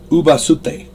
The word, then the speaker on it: ubasute: This was a common practice years ago, centuries ago, called ubasute.